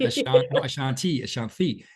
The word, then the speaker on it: Ashanthi: to things like as simple, I think, as pronunciation, which is why when we spoke earlier, I was like, not, and Ashanti.